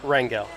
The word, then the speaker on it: Rangel: of that I think how would you say my last one Rangel okay I say it like that too I've come to your